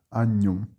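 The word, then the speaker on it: agnum: Percebam que o HN também tem o som como se fosse de NH, né? O GN, desculpe, tem som de NH. Agnom.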